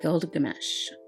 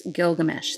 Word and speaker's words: Gilgamesh: Introducing the Exchange Shop, Gilgamesh. Can I say his name worse? Gilgamesh.